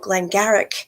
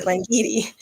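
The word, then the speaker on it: Glen Garioch: of um it's called Glen Garrick up in the highlands in Scotland and Alan brener is like well firstly it's pronounced gleni and secondly I know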